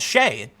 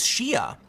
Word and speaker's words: Shia: a trans woman, and she was called Shay, and she said her name is Shia, and that it was violence to mispronounce their name.